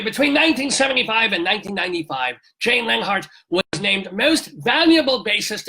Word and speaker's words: Leonhart: to get this right how do we pronounce your name Lenhart oh good you're very very welcome it's it's spelled Leon Hart so there's a Jewish